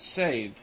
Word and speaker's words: Sèvres: The name of the town is pronounced Save.